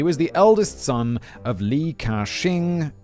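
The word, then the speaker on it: Li Ka-shing: the eldest son of lee kashing um pronounced exactly as you say it is an english speaker brilliant that's a lot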